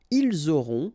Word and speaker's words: ils auront: liaison here, vous aurez, ils auront, final T not pronounced, elles auront.